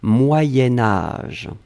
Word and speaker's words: moyen âge: Et puis, faites attention, quand on va le lier avec âge, on va faire cette petite modification de prononciation, on va dire moyenne, moyen âge. Hein, c'est pour ça que vous avez peut-être entendu moyenne, mais en fait on écrit moyen. Moyen âge va être prononcé moyen âge.